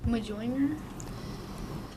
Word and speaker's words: Mjolnir: Mjolnir. I'll accept that. There are 3 ways to pronounce that, so I'll accept that. Good.